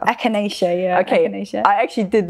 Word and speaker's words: echinacea: like oh no why do i have to pronounce this i'll help you it's echinacea echinacea echinacea yeah okay i actually did look this up